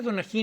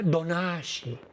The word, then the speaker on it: Donají: La princesa Donají no se llamaba Donají, era Donashi. Donashi, que venía en un náhuatl zapotequizado que era Tonantzin.